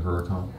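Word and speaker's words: Huracán: I have a 2016 Lamborghini Huracan. I'm not a big car guy, but that sounds expensive. A Lamborghini, what's the model? Huracan, H-U-R-C-A-N. H-U-R? Yeah, C-A-N. Huracan.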